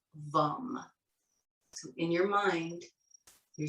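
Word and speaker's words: वं: or seed mantra associated with it and it's vum spelled v a m but pronounced as though or a short u vum for the next couple of minutes if you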